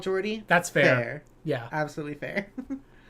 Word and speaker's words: Jodi: Oh, Jodi is the pronunciation. Okay, cool. Oh, okay. That makes it easier then. Yeah, Jodi.